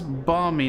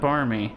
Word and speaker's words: barmy: with the bizarre pronunciations i always thought it was balmy not barmy shows what i know it could be balmy